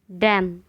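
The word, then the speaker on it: damn: Silent letter N. ऑटम, ऑटम मतलब पतझड़। Column, column यानी स्तंभ। डैम, डैम।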